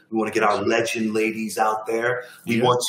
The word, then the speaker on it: LGND: That LGND stands for legend. We just don't spell it.